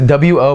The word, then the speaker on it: を: probably the most complicated or at least harder to grasp and harder to explain it's the what marker it's it's a wo but usually pronounce it just like an O right so the O